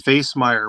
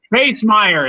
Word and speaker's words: Facemeyer: And that's Facemeyer with a face and a mire. Yes, Facemeyer.